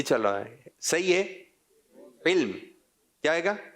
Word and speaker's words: علم: جب تلفظ صحیح نہیں ہوتا علم علم یہ چل رہا ہے. صحیح ہے علم. کیا ہے گا؟ علم.